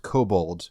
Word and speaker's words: cobalt: adapting, and talks about how cobalt used to be pronounced kobold due to the Limsans learning about cobalt refining techniques from the kobolds.